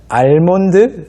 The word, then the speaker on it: almond: 영어로는 뭐 다시 한번 alm L 발음이 있습니다네 Al 소리가 없는 것이 아닌데 아 뒤에 먼 특히으로 이어지기 때문에 거의 안 들리는 것처럼 될 뿐이지 있어요 그래서 굳이 표기한다면 알몬드 정도가 되겠지만 그냥 아몬드 우리말로는 그래서